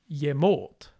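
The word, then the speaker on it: ġemōt: This syllable is always unstressed, which means that the stress will always go on the syllable after the ye. So, for example, yemot, yemot, yemate, yemate, yewunelich, yewunelich, yeblissiende, yeblissiende.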